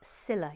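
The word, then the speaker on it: Scylla: program about it about the scuttling of hms cilla you can you can watch it yourself sila is spelled c s c y l l a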